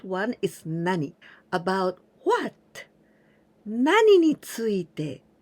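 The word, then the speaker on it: 何について: Here again, there are some people who said 何について, but this is too casual and it's not so correct, okay? The correct one is 何について.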